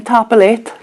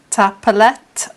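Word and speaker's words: Tapadh leat: And then Tapalet. Tapalet is thank you. That's for the informal, and tapalage if you're speaking to more than one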